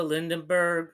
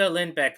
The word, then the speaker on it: Lindbeck: Lily Cooper, Brandon Rogers, Alex Brightman, Erica Lindenberg, or Lindberg, no, Erica Lindbeck, excuse me.